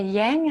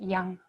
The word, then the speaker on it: yang: young rising okay and you say yang in the West Chinese way we pronounce it young and let's make Yin